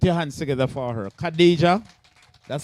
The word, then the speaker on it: Khadija: Khadija, that's how it is pronounced?